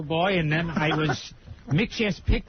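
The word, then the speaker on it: Mxyzptlk: pixlick isn't I think the way they pronounce it at least on that cartoon was make sure Pig lick really yeah you played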